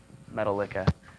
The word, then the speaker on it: Metallica: Speaking of Metallica, as I've heard people mispronounce it, that's kind of funny too. That's a little something for you, Metallica. Like, what? No, it's Metallica.